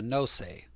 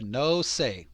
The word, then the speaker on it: Nosei: There is a clan called the Nosei, not the nose, the Nosei, 2 syllables, Nosei clan, running counter to the Tada Genji intention.